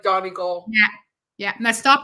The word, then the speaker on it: Donegal: Let's say it right. Let's say and a Letterkenny is how do you say it? Donegal. That's how you say, but I'm saying how up north, like Pennsylvania. Say it's Donegal.